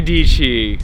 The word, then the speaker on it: Dici: Yes, Sarah Dici, rhymes with Peachy.